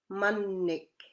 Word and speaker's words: mannik: Example, mannik. There's two M's there again. Mannik, as in egg, and mitik, as in duck.